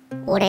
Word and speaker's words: 己: 己って書いて、俺って読むんですけど